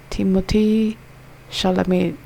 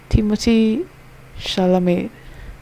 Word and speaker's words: Timothée Chalamet: Mo rhymes with go. Te, like day in te. Sha, like sha. La, like la. May rhymes with day. Put it together is Timothée Chalamet.